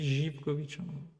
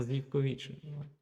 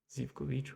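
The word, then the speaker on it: Živković: Alors ça se dit Jipkovic. Il y en a plein qui vont dire Zipkovic en fait. C'est parce qu'il un accent normalement. Voilà, en Serbie, ça se prononce Jkovic. Voilà. Zivkovic. Ouais, on peut le dire aussi.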